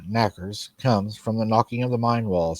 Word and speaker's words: knockers: The name knockers pronounced knackers comes from the knocking